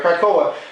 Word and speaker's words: Krakoa: Yeah, I was pronouncing it right, Krakoa.